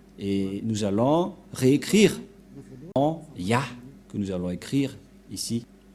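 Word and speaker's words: יה: que selon les Hébreux, ce terme se prononce ya, Y-A-H, et lorsqu'on va le regrouper avec le va, ça donne, qu'est-ce que ça donne?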